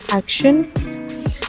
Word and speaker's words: Action: It's spelled as Action. Otherwise, we say it as Action.